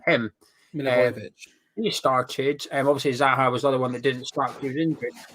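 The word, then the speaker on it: Milivojević: Milivojevic.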